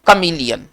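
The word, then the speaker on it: chameleon: उसको कहा जाता है कमलयम अगर आप ऐसे लिखते कमलयम जैसे उच्चारण आप कर रहे हैं अगर उस आधार पर स्पेलिंग लिखते हैं कमलिन तो आप गलत है है ना वो सी एच ए होना चाहिए है ना सी ए नहीं होना चाहिए ध्यान देना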